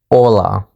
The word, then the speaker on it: hola: Alright, now that we established that, getting back to hello, hola, is actually pronounced hola in Spanish.